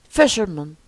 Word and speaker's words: fisherman: examine Rush rou fisherman fisherman don't say fisherman stress the first syllable fisherman fisherman treasure treasure don't